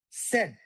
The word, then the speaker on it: said: I didn't hear the D that much. I want to hear said the passenger said they were going to Georgetown for a meeting.